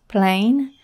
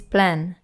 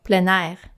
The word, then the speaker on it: plein air: outdoor painting i saw that sometimes it is pronounced plain and other times plan i can tell you the correct french pronunciation is plan plein air or planar people have been painting outside for centuries but